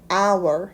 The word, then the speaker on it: hour: 참고로 hour의 h는 묵음이죠. 그래서 h를 발음하지 않고 o부터 발음해서 hour 이라고 읽습니다.